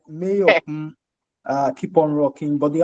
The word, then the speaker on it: Mayorkun: And I wanted to say, he said his name is Mayorkun. So that's how you say it. Yeah, yeah. Just to let you know. I get it, right? Mayorkun, Keep on Rocking.